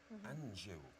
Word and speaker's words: Anjou: Margaret, it sounds like Margaret Anjou. Anjou.